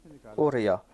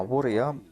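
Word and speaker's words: أواري: qu'on doit prononcer cela Uriya. Ma Wuriya, on devait prononcer Uriya.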